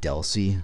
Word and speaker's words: DLCI: the abbreviation is dlci it's almost exclusively pronounced Deli and it's going to use